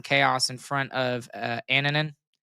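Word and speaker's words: Annunen: in front of uh Aninan who I swear I think he he was being his name was being pronounced Anunan when he was in Colorado but you know whatever.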